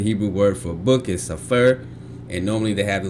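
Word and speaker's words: ספר: You should also note that there are he some Hebrew words that are not stressed on the last syllable. The stress of these words will be indicated by an accent mark over the stress syllable.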